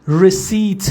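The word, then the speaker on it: receipt: داستانی کنی داشته باشیش تلفظش رسیت هست رسی این پی تلفظ تلفظ تلفظ نمیشه همون رسید خودمون میشه میتونم رسیدم داشته باشم رسی رسی رسی رسی رسی رسی خانم لیدر احمدخانی رسیت همه بنویسن دیکتش جا بیفته پی خوانده نمیشه توی فروشگاه‌های بزرگ که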